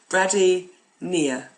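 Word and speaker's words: bradypnea: Bradynia. Let's break it down. Brady, break, nia. A silent P on that one.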